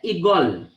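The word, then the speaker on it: عقال: Nah, dalam bahasa Arab tulisannya aklun. Kita membacanya igol, gitu.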